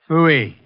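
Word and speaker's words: Pfui: Phooey. It can be spelled in several ways. I spell it P-F-U-I.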